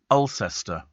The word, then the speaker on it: Alcester: remember that actually and Joe says Alcester is pronounced like elester I don't care okay